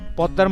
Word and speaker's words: Padma: এটা পদ্মা উচ্চারণ করে পদ্মা, এটা এম উচ্চারণ হবে।